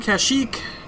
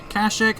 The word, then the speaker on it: Kashyyyk: we're still here on casik kashik however you want to pronounce it and um we just